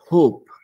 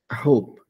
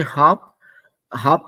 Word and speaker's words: hope: to be pronounced as hope be careful I hope because if you say hop hop is a different word just let's be a